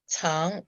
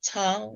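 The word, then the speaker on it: 苍: And I had said that Tang is second tone and meant hide. And actually it's Tang, so it's first tone, not second tone.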